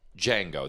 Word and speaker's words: Django: Well, first of all, it's Django. The D is it's silent. Django. And if you saw the movie, you'd know that because he says, the D is silent.